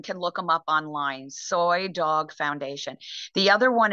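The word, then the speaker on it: Soi: sure um one is soy dog foundation and soy is spelled s-o-i not s-o-y s-o-i dog foundation it's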